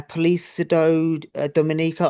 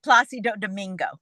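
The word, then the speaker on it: Plácido Domingo: Center Opera under the legendary is it uh police Dominico? I can't pronounce that. Yeah, no worries. It's Placido Domingo.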